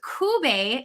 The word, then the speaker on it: Cube: to get that one wrong too so kubay wonderful and kube that that is uh